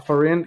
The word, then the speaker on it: Afarin: up Cyrus for a foreign how do you how do you say your last name you could just say Alfred like that nose spray it's okay yeah appreciate